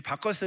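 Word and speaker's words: Bacchus: 이름이여 바쿠 수 구요 또 영어식 발음인 바꿨습니다 이 바커스 를 한국에서는 뭐라고 부르 내면 요 여름 잘 알고 있는 바카스 마신 밖까지 있잖아요 이 박카스를 일본식 발음 아까 쓴데 이 박카스가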